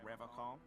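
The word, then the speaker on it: Revachol: But someone has to stay strong for Revacol. Revacol. He pronounces Revacol with a hard K, unlike a serious question time.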